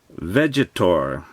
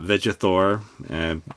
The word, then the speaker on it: Vegetor: Here is the front of the box, and we have a named character, Vegetor. I think it is Vegetor and not Vegator.